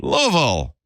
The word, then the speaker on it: Louisville: Yeah, this is from Louisville, Kentucky. Louisville. Yeah, Louisville, right? That's how you say it. Louisville. It should be Louisville because we're named after King Louis.